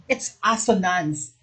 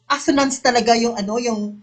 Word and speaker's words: assonance: assonance correct you know i used to pronounce it when i checked it's assonance before asanas okay yes a